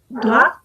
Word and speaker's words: doigts: et ce sont les doigts bien les doig si a pesar de todas esas letras no las pronunciamos entonces es la tête